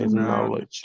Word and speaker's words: knowledge: knowledge knowledge very good letter K not necessary pronunciation knowledge okay Circle the correct